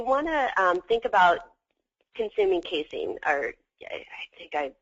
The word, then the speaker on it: casein: There's whey protein, W-H-E-Y, and then casein, C-A-S-E-I-N.